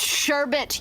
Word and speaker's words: sherbet: It's pronounced sherbet, you bitches. Anyway, so I will accept sherbet first again, because sherbet isn't adding another goddamn letter that doesn't belong in the word.